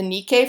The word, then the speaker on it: Nike: notice that she's holding in her hand the nikkei figure spelled ni caiis nike right but we it really is pronounced Nikkei and we'll talk a little bit